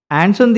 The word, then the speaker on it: Incendies: ഇൻസെൻറ്റീസ്. ആൻസന്തി എന്നാണ് യഥാർത്ഥ ഉച്ചാരണം എന്ന് പറയുന്നുണ്ട്.